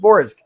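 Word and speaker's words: Vorsg: Well, the G is just you pull your tongue back a little bit, so you pronounce it Vorzg. And it sounds a little strange, but it is one syllable.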